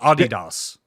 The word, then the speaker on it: Adidas: contracts ending Adidas Adidas it's pronounced Adidas Adidas they are on they're